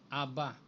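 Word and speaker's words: Abba: na yan yung alep at saka yung best bibigkasin mo Aba Okay Aba yan yan ang Hebrew ng Hebrew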